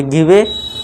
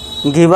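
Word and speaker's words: give: गिववे गिव अ या पढ़ेंगे। लेकिन हम इसको क्या कर देते हैं? ई को साइलेंट कर देते हैं।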